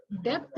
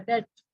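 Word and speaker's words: debt: कर्ज वगैरह भी था डेप्थ नहीं बोलते हैं बी साइलेंट रहता है डेथ बोल तो दिए मैं तो कहा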